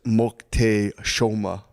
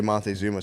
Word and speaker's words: Moctezuma: Apparently, the way you say Montezuma is Moctezuma. So if you hear anyone say Montezuma, say actually it's pronounced.